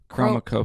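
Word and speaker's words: Chromakopia: Chromacopia.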